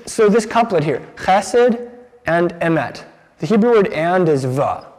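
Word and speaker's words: emet: idea behind this word the hebrew is ahmet can we all say emmett you could spell it e-m-e-t i have some friends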